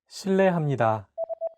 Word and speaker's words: 실례합니다: While this character is transcribed as an R and an L, don't pronounce it like an English R. Listen to how Jay is pronouncing this sound. 르, It sounds like a mixture between an R and an L sound.